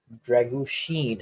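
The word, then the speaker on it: Drăgușin: balls in the air dragu Sheen actually apparently that's how it's pronounced yeah Sheen like Charlie Sheen good old good old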